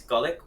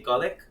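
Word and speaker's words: Gulick: Look, it's gullik. We say gullik, but we know everybody says goulic, so you can leave it.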